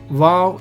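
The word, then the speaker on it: וו: Hey, vow is van.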